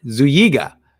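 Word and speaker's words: Zúñiga: It's an Enye, so Zuyiga. Jose Zuyiga, I think.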